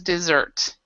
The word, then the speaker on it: dessert: in the desert so this is Desert this is dessert and then to Desert means to abandon okay next one um